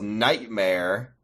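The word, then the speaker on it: Knightmare: That K is silent. Uh, her name is Sorry. His name uhoh is Nightmare with a K.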